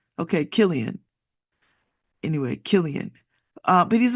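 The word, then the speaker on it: Cillian: from 2013 to 22 and uh oh you pronounce it Killian Murphy Killian okay Killian anyway Killian uh but he's an interesting looking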